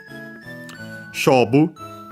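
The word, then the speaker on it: 勝負: So, accent on the first syllable, it's a Chinese compound, so yeah, the second most accent for those.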